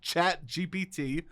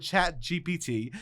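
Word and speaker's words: ChatGPT: One problem with chat GPT is I'm saying B. You were saying B. It's P.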